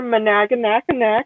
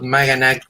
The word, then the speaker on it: Maganac: But Maganac will be the most literal one, so you can call it whatever.